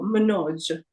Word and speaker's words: Manoj: de, so Suresh, and the single O as the O in door, so Manoj.